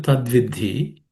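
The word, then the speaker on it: तद्विद्धि: Tadvidhi, in the tadvidhi, the last letter, in the idhi, it is an aspirated consonant.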